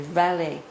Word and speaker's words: réveillé: It's a réveil or a réveillé. This word is a French word. I think Sri Aurobindo meant it to be pronounced in the French way here.